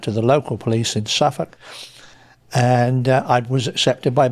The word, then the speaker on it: Suffolk: It's not Suffolk, as all the Americans say. It's Suffolk. No, it's Suffolk.